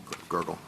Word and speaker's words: Gergel: I mean, at trial, Judge Gergel, is that the correct pronunciation of his name? Gergel.